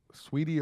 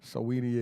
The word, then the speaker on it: Saweetie: Sweetie or Swati, I forgot how you pronounce her name. Saweetie, yeah. She's coming out with Icy on Friday.